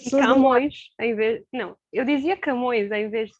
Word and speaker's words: Camões: Camões, em vez. Não, eu dizia Camões em vez de É, Camões. mas aí tem de ser corrigido. Pronto. A sílaba tónica está no fim, não é?